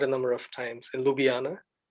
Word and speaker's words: Ljubljana: lj-u-b-i-a-n-a to be honor I think just the pronounce j is why and you'll be you'll get the pronunciation right imagine Jay is why and then it's much easier it's it's like a bit like the Dutch and German pronunciation a bit like that the way they pronounce Slavic okay yes so yeah your